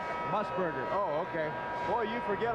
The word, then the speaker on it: Musburger: How do you pronounce that again? His last name. Musburger.